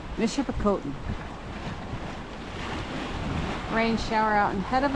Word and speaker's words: Michipicoten: There's more of the southern tip of, the western tip of, how do you pronounce it? Michipicoten. Michipicoten.